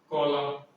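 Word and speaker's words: column: ठीक है, जैसे कि एग्जांपल कॉलम, कॉलम इसमें एन लगता है लेकिन एन का सामने से कॉलम पढ़ते हैं, मैं लिख देता हूँ कॉलम।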